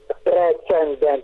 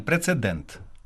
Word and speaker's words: прецедент: По-перше, от говорять іноді ндн прецендент. Чи все-таки правильно без оцього н прецедент? Правильно, без н прецедент.